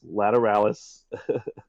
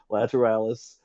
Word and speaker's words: Lateralis: of the AL so the emphasis is on the AL not the lat um and so anyway